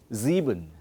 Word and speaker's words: sieben: Sieben, SIEBEN. Okay. So For example, zwei, drei, but sieben.